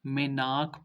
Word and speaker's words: मानक: क्षेत्र को, ठीक है, शिवालिक को जो है मेनाक पर्वत के नाम से जानते थे, यानी मेनाक पर्वत के नाम से प्रसिद्ध था।